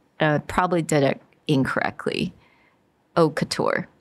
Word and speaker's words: couture: C-O-U-T-U-R-E is couture.